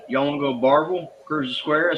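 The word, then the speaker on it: Barbourville: Um, and then Barville is Barberville. They leave out four letters when they pronounce it.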